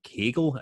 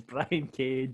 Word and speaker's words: Brian Cage: Westy wants to put over AEW for bringing in Brian Cagle. Is it Cagle? Cage. It's just John. Is it how do you pronounce that, John? Is it Cagle? Sorry, it's Brian Cage.